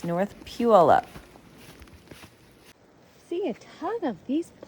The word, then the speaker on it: Puyallup: It's North Puyallup.